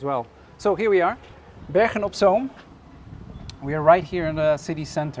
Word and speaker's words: Bergen op Zoom: It's called Bergen op Zoom.